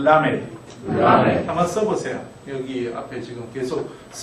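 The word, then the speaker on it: ל: 이게 이제 여러분 나중에 발음하실 때 L 발음과 R 발음을 구분을 하셔야 되는데 이것은 L 발음입니다. 완전히 그러니까 구르는 소리가 아니고 붙였다가 혀를 입천장에 붙였다가 나오는 이 발음이죠. 라멧.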